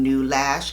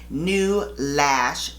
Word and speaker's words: Neulash: usa and you can get more information on new lash at www new lash dot com and new is spelled n e u lash l a s